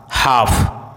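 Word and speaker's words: half: यदि किसी वर्ड में MN साथ में हो तो एन का उच्चारण साइलेंट होता है, जैसे autumn, column, dam, him, condemn, सोलम।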